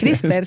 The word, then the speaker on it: CRISPR: CRISPR, sí, CRISPR. CRISPR. Es que se pronuncia, se escribe sin la E al final, ¿no?